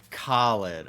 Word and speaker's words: Khalid: I don't know how it's pronounced. I need... Ooh, beautiful lady. It's Khalid.